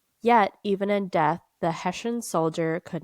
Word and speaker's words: Hessian: How to pronounce. I might be German, but it doesn't mean I can speak it. Hessian. Hessian. We were both wrong. We were. Hessian.